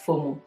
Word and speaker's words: FOMO: The second one, which I'll be talking about, is what we call the FOMO, and it's pronounced as FOMO, which means fear of missing out.